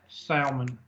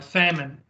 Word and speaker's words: salmon: let's go with that Salman I'm sorry salmon si ma mo en si you owe me the salmon yeah you don't pronounce the L I'm sorry so I'm